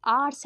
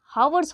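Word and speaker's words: hours: गलती है ऑनेस्ट अ होता है एच इज़ साइलेंट ये ऑनेस्ट होता है हॉनेस्ट नहीं होता है तो अगर ऑनेस्ट है आर्स है हम लोग हावर्स बोलते हैं हवर्स क्या होता है ह पढ़ेंगे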